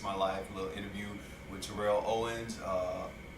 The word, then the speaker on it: Terrell: And we're just here and want to talk about the little Iyanla Fix My Life little interview with Terrell Owens. Terrell. See, I was saying the man's name wrong.